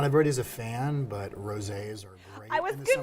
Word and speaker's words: rosé: Rosé is big right now. It's been big for a little bit because, I mean, it rhymes with all day, so rosé all Rosé all day.